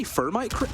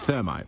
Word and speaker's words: thermite: be sitting there thinking did he say fermite like why is that such a good ban on skyscraper I mean everyone sat there thinking you didn't say it correctly it's thermite right yeah sorry go on